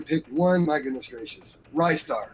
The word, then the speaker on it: Ristar: I've been Nice. told it's actually That's Restar, but It's it Ristar. sounds better if you go with Rystar. I've always gone with Rystar, but I always screw up pronunciation, Yeah, so same. don't It's ask because me. he attacks you with his wrists.